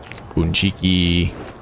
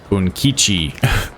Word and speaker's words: Bunkichi: Bebe, Otagiri, Bunchiki, Bunkichi. I mispronounced his name.